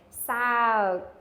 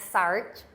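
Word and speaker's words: សើច: Sao, not sart, okay?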